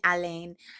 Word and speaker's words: Alain: by alain that's well i think it's pronounced alan alain a-l-a-i-n-bashum um again all